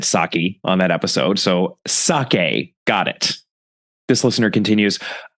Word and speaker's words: sake: is pronounced more like sake, similar to okay, and not saki. Guilty as charged, listener. I definitely said sake on that episode, so sake, got it.